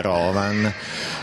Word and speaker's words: Rovan: O Rovan, dove va l'accento? Credo vada sulla O iniziale, Rovan.